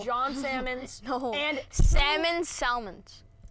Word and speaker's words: Salmons: salmon snow and salmon Salmons no it's pronounced salmon are you correcting me